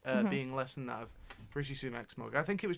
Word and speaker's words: Rishi Sunak: Sam just didn't want to just- pronounce their name so- wrong. No, it was. It's Rishi Sunak.